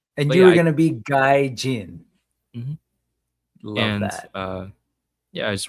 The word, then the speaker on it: Guy-Gin: And you were gonna be Guy-Jin. Mm-hmm. Love that. I just wanted to make this a little more phonetically easier to pronounce until Lago on Chat